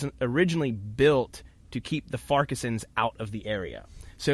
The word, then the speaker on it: Farquharson: It looks like it's spelled Farquharson, but when I went over to Scotland, they pronounced it Farquharson clan.